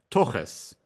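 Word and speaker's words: תחת: So that's actually that in Yiddish they use this Hebrew word, but they pronounce it as toches, and that was the common Yiddish word for that part of the body.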